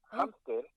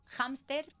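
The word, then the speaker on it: hámster: Listen, Mom, hamster is this, one of two words in which the H is pronounced like a J española.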